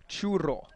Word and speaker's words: churro: I'm not very good at rolling my R's.